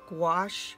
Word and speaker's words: gouache: of our project is wash paint doesn't sound like it's spelt it's geo you a